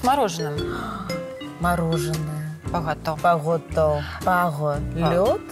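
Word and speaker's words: παγωτό: Пагото. Пагото. Нельзя пагото. Пагото. О произносим четко О.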